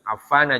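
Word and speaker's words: عفان: Maka bacanya an Utsmana, ya, bukan an Utsmani. Ya. An Utsmana bin Affana, ya, sama juga. Affana juga sama.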